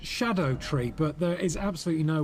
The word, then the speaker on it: Scadutree: found out that allegedly scad tree is is actually meant to be pronounced Shadow tree but there is absolutely